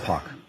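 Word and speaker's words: Poch: Pock. what? Pock. Spell it, please, the last name?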